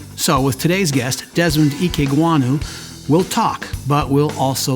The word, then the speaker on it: Ikegwuonu: Our guest today, Desmond Ikegwuonu, and I've been worried about saying your name wrong.